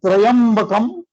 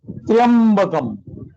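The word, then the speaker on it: Tryambakam: Is it Trayambakam or Triambakam? So the second one. This one, no? This is the wrong version, huh?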